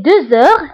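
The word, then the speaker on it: deux heures: فبالنسبة هنا أيضا غتلاحظوا أنني قلت دوز أور، هنا نطقت لا لتر زد مع أنها ما كيناش. Pourquoi? Parce que عندي H. Parce que عندي la lettre X كتبعها H. Donc, كندير la liaison وكنقرا 2 heures. 2 heures. D'accord? كنطق la lettre Z مع أنها مكتوباش parce que درنا la liaison.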